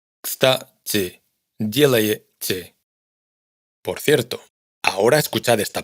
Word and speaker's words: делаете: Todas estas últimas sílabas suenan igual, aunque en кстати hay una i y en el resto hay una ye. Esto hay que tenerlo en cuenta porque a menudo nos ocurre que intentamos ajustar la pronunciación a lo que vemos escrito, y nos esforzamos por pronunciar una i en кстати y una ye en делаете. Pero para un ruso son vocales indistinguibles.